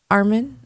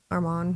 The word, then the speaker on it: Arman: Patty's not that Patty's not that active and they passed up uh Armen. Armen, how does he spell it? Arman.